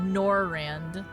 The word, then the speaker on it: Norvrandt: Oh, the D is silent. The DB silent. Okay, so... Oh, Norvrandt.